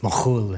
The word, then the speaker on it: McKhool: of jigs and reels, but actually it would have been pronounced Mochul in Kefremishki, Lebanon, where my ancestors are from.